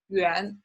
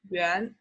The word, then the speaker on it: 元: official document will be 元, rising tone, like what, 元. So they are the notes in China, 1, 10, 20, and 50. Okay, and there are 2 ways to say it, either 元 or 块.